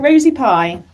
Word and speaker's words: Rosie Pye: well Rosie is it uh Rosie am I pronouncing that right yeah that's right Rosie pie that's my name Rosie pie all right great